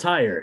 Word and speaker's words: tire: But it's spelled tire, T-I-R-E.